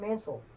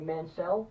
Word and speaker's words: Mansell: shot at the championship tonight but Lord Robert Mansell or I'm sorry Mansell that's how he told me to pronounce it mm-hmm he gets a shot at